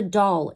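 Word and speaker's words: Daal: origin of the Dolphins it is doll as you would spell it and it was translated into your present verbiage as dolphin it is a doll with fins so that's capital D and then a a l there is much wisdom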